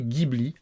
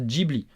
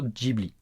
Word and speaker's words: Ghibli: Alors, avant de vous donner des nouvelles, oui, je sais, j'ai prononcé Ghibli volontairement parce que je parle en français, hein, oui, et qu'en France on prononce comme ça.